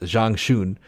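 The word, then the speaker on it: Zhang Xun: that tried to make Jean I think it's pronounced Zhang shun a uh Chinese General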